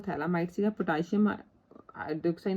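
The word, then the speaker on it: phthalimide: अपन थैलामाइड ले लिया, ठीक है, इनू पिथैलामाइड नहीं बोलना, इनू थैलामाइड बोलना है, ये पी साइलेंट है, ठीक है, PH।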